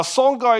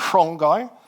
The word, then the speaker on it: Songhai: Now, Songhai is how we say it in English. Some people think that should be pronounced Shongai, but we'll just keep it we'll keep the pronunciation simple.